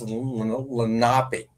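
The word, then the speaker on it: Lenape: So, Steve Lenipe is actually the Indians that uh settled this part of the New Jersey. It's actually actually pronounced Lapi.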